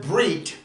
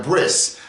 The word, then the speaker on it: brit: And by the way, that word Brit, remember, there's a group of Jews on the planet that whenever a word ends in a tav, they will pronounce it with an S.